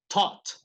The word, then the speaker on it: taught: Noten que cuando pronuncian la T en inglés, taught. La punta de su lengua, casi digo luenga, la punta de su lengua debe estar detrás de los dientes.